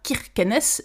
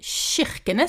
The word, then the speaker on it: Kirkenes: prononciation k i se prononce chi et pas qui on ne dit pas kirkenesses mais chirkenes c'est vraiment le ch